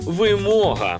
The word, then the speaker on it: вимога: Але нічого, я б теж помилився і сказав «вимога». Але правильно буде «вимога». То тішить, що більшість це знають. Вимога. Вимога. Вимога. Вимога. Вимога. Вимога. Вимога. У цьому слові наголос буде на букву О. Вимога.